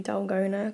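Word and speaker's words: dalgona: happy i've made myself one of the dolgona coffees and that's how you say it which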